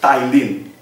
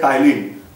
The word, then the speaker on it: ptyalin: But for my sake of convenience, I should say that don't say ptyalin. We have to pronounce p-tyalin. Why? Because in the spelling p is there.